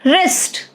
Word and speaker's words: wrist: Wrist, silent W.